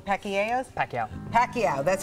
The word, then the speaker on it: Pacquiao: Manny Pacquia Pacos. Pacquiao. Pacquiao.